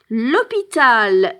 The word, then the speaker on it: hôpital: but it starts with an H and with a silent H, and this is why we use the L apostrophe.